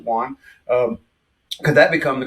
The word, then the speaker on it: yuan: with a could use the Juan the U Yuan I pronounce it Juan um could that become